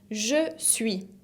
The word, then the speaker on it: je suis: La première personne du singulier se dice je suis, como ya vimos en la presentación. Je suis con una S final qui ne se prononce pas, que no se pronuncia.